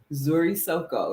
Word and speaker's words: Nzuri Soko: And her store is called Zuri Soko. It's spelled NZURI SOKO.